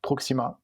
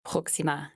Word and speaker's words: Proxima: you here Proxima or Proxima oh I don't know how do you say I speak French so I usually say it with a French accent and that would be simply like Proxima Proxima but you can call